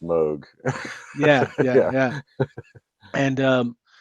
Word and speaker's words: Moog: Well, it's Um, definitely pronounced Moog.